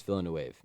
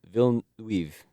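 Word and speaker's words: Villeneuve: Blade Runner 2049 right you would think his name is Dennis villain wave it just looks like that right Denise villain it's not even villain it's it's a film villain weave film yeah or something like that yeah it's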